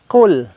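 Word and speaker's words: قل: Di antaranya yang pertama adalah kata Qul. Qul, hati-hati kita membacanya menjadi Qul. Mengapa? Karena beda baca, beda arti. Qul artinya katakanlah, sedangkan kul artinya makanlah. Hanya berbeda qaf dengan kaf.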